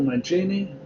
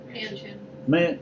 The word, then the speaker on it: Manchin: Your state senator, Joe Mancini, I guess. Manchin. What? Manchin. Okay, I always mispronounce his name.